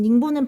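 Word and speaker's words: 寧波: 여러분, 닝보는 발음이고 어디라고 했어요? 그 중국 영파라고 했습니다.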